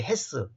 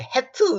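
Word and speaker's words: hath: 근데 옛날의 영어로는 이 TH가 S 대신 TH, 헤스. 헤스라 그래 보니, 헤트, 뭐 이렇게 번역하면 안 돼요. 발음하면 안 돼요.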